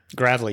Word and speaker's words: Gravely: Jeff grle and I think I used to pronounce his last name very differently and I'm glad am I saying it right now grle yes sir grle I think I used to say Gravely or something youve probably heard it all I